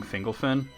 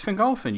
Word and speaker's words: Fingolfin: And I'm like, it's Fingolfin. You put the accent on the second to last syllable.